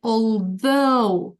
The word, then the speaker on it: although: end at the end pay attention to the stress we say although the second syllable although yeah although and what is the